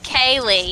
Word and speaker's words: Kaylee: name, your name pronunciation is Kaylee, correctly? That's right. Kaylee, yes. Like Kay and Okay. Lee together.